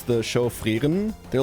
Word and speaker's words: Frieren: People were getting on my shit too about how I pronounce the show Frieren. They're like, oh, you're being so pretentious. I'm literally German. That's just how I say that word.